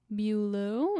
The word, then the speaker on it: Beaulieu: He married Priscilla Beaulieu is how we're going to go with pronouncing her maiden name.